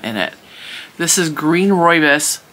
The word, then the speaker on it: rooibos: This is green rooibos. Rooibos is spelled R-O-O-I-B-O-S because a lot of people don't know how to say that as rooibos.